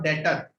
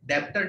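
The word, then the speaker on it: debtor: और डेटर, ये B silent, okay, B silent, डेप्टर नहीं होता है, डेटर होता है।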